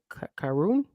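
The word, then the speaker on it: Karrion: and a how do you say his name karoon karoon karoon there's two yeah no no I I know that's where I messed up karoon earlier because I was like Aaron like I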